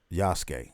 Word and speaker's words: Yasuke: i say that because we have one called um yasuke i think that's how